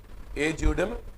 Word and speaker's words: ejusdem: देखो rule of ए जूडम Gennaris, pronunciation है EJUSDEM, ई को ए पढ़ो ज्यू, एस साइलेंट है, डेम, ए जूडम जेनेरिस।